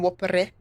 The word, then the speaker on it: Whopper: Un whoppere. And Whopper. And in Japanese it's whoppa! Fuck. Like the Pokemon. Fuck. Yeah, you don't know in France, but in Quebec we pronounce it in English, whopper.